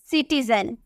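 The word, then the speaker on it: citizen: आई नजर आ रहा सी के बाद अगर आई हो तो उसकी प्रोनंसिएशन स में किया जाता है किसमें स श नहीं स तो हम इसे क्या बोलेंगे हम इसे बोलेंगे सिटीजन हम इसे बोलेंगे सिटीजन उसी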